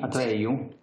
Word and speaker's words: Atreju: Sì, io non sono un esperto della destra italiana, anche se sono stato invitato da Atreju. Ah. Si pronuncia così? Atreju? Sì. Ero in collegamento da New York in una tavola rotonda più tecnica che politica sulla lotta al cambiamento climatico.